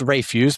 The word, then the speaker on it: Rafuse: Yeah, I mean, it'd be pronounced Refuse, but Refuse, okay.